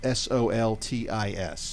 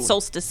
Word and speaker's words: Soltis: and i'd be happy to answer any questions and last name is spelt s-o-l-t-i-s yes great i get solstice a lot yeah it is soltis s-o-l-t-i-s sultas with